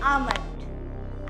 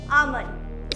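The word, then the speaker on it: almond: ड्रेसों so last word है आलमंड। आलमंड नहीं आंड। इसकी स्पेलिंग क्या होती है? ए एल एम ओ एन डी। एल होता है इसमें लेकिन ये साइलेंट होता है।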